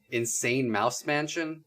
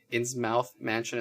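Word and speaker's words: Innsmouth Mansion: ins mouth mansion um also referred to as insane mouse mansion though this this one online article said that is a mispronunciation and that ins ins mouth mansion is correct based on like the lovecraft story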